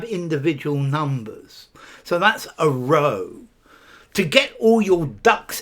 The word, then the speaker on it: Rho: R-O-E, row.